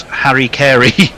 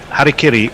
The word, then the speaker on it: harakiri: Leah says um but bikes also pronounces Hara karakiri as Harry Carey so one last time harakiri is a form of suicide and this is Harry Carey and there's a picture